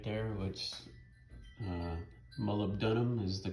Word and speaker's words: molybdenum: I've also got some moly paste right there, which molybdenum is the correct pronunciation.